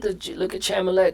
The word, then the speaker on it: Chalamet: Look at Chalamet. The that's his name. That's how you pronounce it.